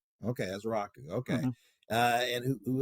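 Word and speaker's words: Ezeiruaku: Ezeraku, yeah, it is. Ezeraku, yeah. Okay, Ezeraku, okay.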